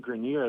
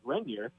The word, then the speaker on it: Grenier: of the sophomore season, we would call him Caden Grenier, the former shortstop of the national title team. Everybody got his name wrong. And it's interesting. Caden apparently didn't care, and he never said anything to us. I think his entire life he's just been used to being called different things and didn't mind. But apparently how we ended up finding out that his name was actually pronounced Grenier was that his mom called